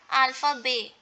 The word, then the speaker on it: alphabet: We have just pronounced and here alpha bay. Okay, T is not pronounced.